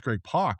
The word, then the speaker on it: Greg Pak: And it's Greg Pak. Whoops! I've been saying that wrong for a long time, so I apologize, sir.